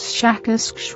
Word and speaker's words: Shakas: Our language is very different from yours, but my name, as I will try to say it smoother by use of your human letters, something like Shakas with a very strong pronunciation of the SH and K sounds.